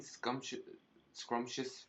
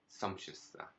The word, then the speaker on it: sumptuous: And I keep getting scrumptious fur. Sumptuous fur. I won't be scrumptious, I'm just mispronouncing it. Sumptuous, thank you.